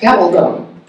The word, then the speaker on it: Gabaldon: And I have heard probably more attempts on my name this weekend than it's usually pronounced Gabaldon. Rhymes with band the bone, that's how you remember it.